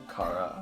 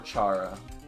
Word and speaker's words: Chara: to touch up on Cara eyes do you guys pronounce that Cara or Chara Cara car under undertale undertale Cara yes Char there's several acceptable ways I say I say